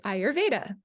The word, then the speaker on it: Ayurveda: family what you learn today uh which is ayurveda so ayurveda means the knowledge of life and